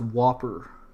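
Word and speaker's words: WOPR: computer known as wer War operation plan response pronounced Whopper like Burger King programed to continuously run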